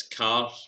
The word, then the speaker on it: Carr: Because I've sometimes heard car spelling pronounced Kerr. It's car, but I believe it's derived from the ancient Kerr as far as Scottishness goes, but it's pronounced car.